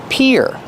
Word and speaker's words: pier: And the pronunciation is like ear and hear. Pier.